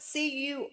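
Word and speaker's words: Curaçao: That's how you say it. It's spelled Curacao. But it's Curacao. They call it Curacao.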